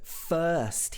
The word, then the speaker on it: first: days at home okay so he uses the word first here first day so this uh is another important sound in british accent the first days you'll